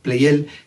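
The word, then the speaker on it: Pleyel: que murió francés y por ello lo voy a seguir a la pronunciación francesa su apellido ignace play él es su nombre además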